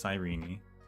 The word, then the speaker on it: Sirene: about Fon's past and we met Sirene or Sirene as apparently the game wants it to be pronounced. I resist that, but I guess I should respect that that is her name. It's Sirene.